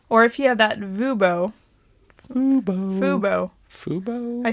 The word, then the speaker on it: Fubo: Or if you have that Fubo. I said Vubo. Yeah. Subscription service. Clearly we have it if we can't even pronounce it.